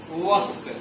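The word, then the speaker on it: worst: बैड, वॉस, वॉस्ट। र को थोड़ा सा कम बोलेंगे क्योंकि पहले वोवेल आ रहा है, इसलिए आर को हम लोग थोड़ा सा साइलेंट वे में निकालेंगे।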